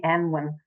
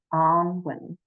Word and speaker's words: Annwyn: want to share that the pronunciation is Annwyn. And the reason for that is the sound ah is very different to eh.